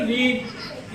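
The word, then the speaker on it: read: हम जब पास्ट में बोलते हैं तो इसे रेड बोलते हैं, जैसे लाल कलर को बोला जाता है उसी तरीके से उच्चारण में अंतर है।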